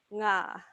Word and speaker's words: ngā: And then the last one, ngā. So back to that NG consonant blend.